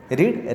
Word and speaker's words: read: That will become she हैज़ रेड news paper. She हैज़ रेड news paper. रेड की spelling READ ही रहेगी। Okay, रीड, रेड।